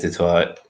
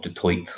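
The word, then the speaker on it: du Toit: The only big names you're really missing, well, Pierre Steph Dutoit or Dutoit, I'm not exactly sure how you might pronounce it. Dutoit like a tiger. Toit like tiger.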